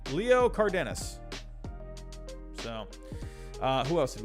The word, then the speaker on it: Cardenas: there we go oliva and how do you pronounce this one it was cardanas they don't give you a pronunciation leo cardenas so uh who else did we have on